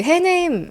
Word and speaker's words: Hunnam: 그런 게 들던데 에드 역이 찰리 헤넴이라는 배우입니다. 근데 그 헤넴 스펠링이 뭐냐면 HUNNAM이거든요. 훈남. 찰리 훈남. 훈남 같죠?